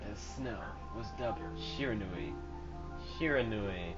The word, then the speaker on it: Shiranui: Shiranui. I think that's how it's pronounced. That's how I'm going to be pronouncing it.